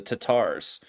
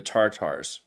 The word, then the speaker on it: Tatar: the R so the tatars instead of the tartars right so the Tatar means that they're using the more Persian the Persians don't pronounce the r they used an apostrophe